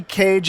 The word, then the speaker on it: Kej: the right way uh so the right way is how you would say how we pronounce a bird cage c-a-g-e just like how you would say nicholas cage okay good deal uh